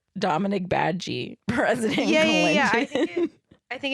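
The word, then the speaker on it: Badguy: his name is Dominic badge which is spelled uh like just like bad guy yeah yeah but it's French um and it means good guy yeah yeah we're being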